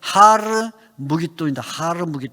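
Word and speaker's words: הַר מְגִדּוֹ: 히브리어로 아마겟돈이라는데 이 히브리어로 아마겟돈이라는 말은 뭐냐면 본래 아르무깃돈인데 아르무깃돈 본래 히브리어는 하르무깃돈이다. 하르무깃돈에서 하르가 히읗 발음이 떨어져서 아르무깃돈에서 아르무깃돈이 아마겟돈 이렇게 된 건데 발음상 그래서 하르무깃돈이 아르무깃돈 그래서 우리말은 아마겟돈 이렇게 번역을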